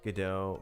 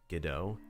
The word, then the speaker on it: Godot: a french play and how you pronounce godot in the play is how i'm saying it so it's not go dot anyone that says godot